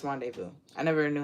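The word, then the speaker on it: rendezvous: wrong renous let's see Rondevu rendevu oh it's rendevu I never knew how it was SP r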